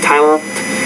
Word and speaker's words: tilted: You want to say tilted. So there's 2 syllables there. Because the T's at the end of the word, when you put the ED on there, you have to add a new syllable there.